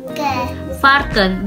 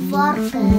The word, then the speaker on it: varken: Warken. Warken. Oh. Jadi kalau Mami namanya Nova jadi dibacanya Nova gitu. Iya. Oh di dalam bahasa Belanda V dibacanya lebih ke mirip ke W.